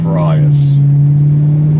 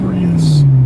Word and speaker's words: Prius: think we'll talk about the Toyota prias um or as we Americans call it the Prius I don't like the